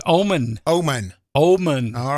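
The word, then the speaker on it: Oman: to be held at Tuesday March 21 at obon Arena am I pronouncing that somebody it's Omen Omen Omen all right Omen uh it's named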